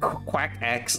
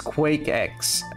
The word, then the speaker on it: Quake X: old sui qu qu quack x no it's not quack it's Quake X Quake X there we